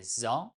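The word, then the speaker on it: ظ: La lettre numéro 20, Z ou Za, son nom est Za, mais on prononce tout simplement Z comme Z.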